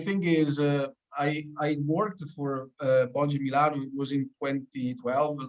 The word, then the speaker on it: Boggi: when they say it in English, they say it wrong, like Boggi, but in reality is Boggi.